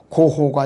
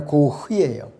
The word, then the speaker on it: 고흐: 빈센트 반 고흐라는 사람, 발음이 고호가 아니라 고흐예요.